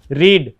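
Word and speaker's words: read: main व किया है रीड रीड की थर्ड फॉर्म क्या होती है तो रीड रीड व्याघ्र-चर्म जाएगी रेड अच्छा ठीक है तीनों एक जैसी ही स्पेलिंग होती है रीड में लेकिन पढ़ने में फर्क प्रेस और हमारे वह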